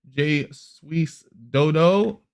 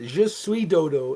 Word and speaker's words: Je suis Dodo: Je suis dodo is the correct pronunciation, but maybe you didn't study French to any degree.